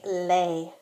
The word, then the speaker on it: les: Be sure to distinguish between the pronunciation of le and les. In spoken French, that is often the only way to tell the difference between a singular and a plural noun.